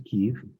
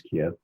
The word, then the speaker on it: Kyiv: things, and then went back to Kyiv, which most people pronounce Kiev, and had some time.